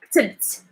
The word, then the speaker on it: كتبت: So you have to say to count like two consonants, kt, and then put like a little vowel, and then you would add kt.